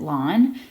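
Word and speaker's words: ln: We pronounce it lawn.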